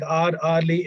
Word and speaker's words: hourly: Note, the following words begin with a silent H, and they are especially words like hourly, heir, heiress, honor, honorable, honest, honestly. They must be pronounced as though they were no H at the beginning. As I already told you, the pronunciation begins with O.